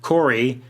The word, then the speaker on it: Khory: A demon child called Cory. Don't worry, it's fantasy-like. It's spelled Khory.